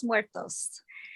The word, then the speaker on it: muertos: And would you please go ahead and say it so that the right pronunciation comes out? Yes, it is muertos.